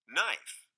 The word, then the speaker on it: knife: crazy after all not knife knee these are all viking words but somehow we have lost the first sounds and now they are silent shh but look there